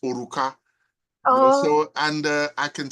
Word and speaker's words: Oruka: in The yobba Language means ring and it's pronounced oruka so and uh I can see how the